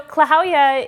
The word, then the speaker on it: Klahowya: It is pronounced very phonetically. So Klahowya is a greeting, sort